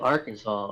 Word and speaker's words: Arkansas: she makes a point why is it not our Kansas it's spelled the same I yeah yeah yeah we do need to explain belet Arkansas right get the out of here you're GNA call it Arkansas spell it Arkansas yeah a r k a ANS a w Arkansas put W in there